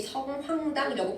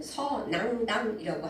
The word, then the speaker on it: 서낭당: 많은 사람들이 성황당이라고 부르는데 원래 맞는 발음은 서낭당이라고 한다고 해요.